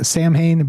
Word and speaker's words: Samhain: It is Samhain, but pronounced Samhain, of course. You guys know Samhain, the old band. That's how I always said it.